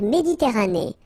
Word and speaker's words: Méditerranée: La mer Méditerranée. Okay, here final not pronounced, but then you pronounce this A at the end.